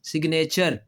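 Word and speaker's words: signature: हालांकि यहाँ पे क्या है, साइन, यहाँ पे जी जो है वो साइलेंट है। अब वही लफ्ज़ को थोड़ा सा बढ़ाया आगे, ए टी यू आर ई लिख दिया, तो अब वो जी जो है ना वो अब साइलेंट नहीं रहा।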